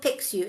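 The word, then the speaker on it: Pixiu: yeah um oh Pikachu some call it pixu is p-i-x-u picks you but I call it PQ um it depends on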